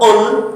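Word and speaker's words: قل: dengan tangan kanan KL hati-hati pengucapan KL kalau dengan qf itu Qul maka bukan lagi makan tapi Katakanlah ya namam hati-hati pengucapan bahasa Arab Qul dengan Qul itu akan berbeda kalau Qul itu kataakah tapi kalau Qul Makanlah maka ketika membaca surah al-ikhlas itu baca dengan qf Qul Katakanlah wahai Muhammad Allahu ahad Allah itu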